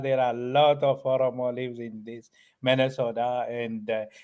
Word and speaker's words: Oromo: And speaking about the different types of the societies that are there in Oromo, I'm pronouncing it right?